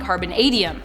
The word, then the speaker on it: carbonadium: Dax Foster says, I'm pretty sure it's a long A on carbonadium.